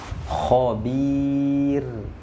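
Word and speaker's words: خبير: Nah ini maka harus dibaca tipis. Khobir, khobir. Nah jangan sampai kita membacanya tebal.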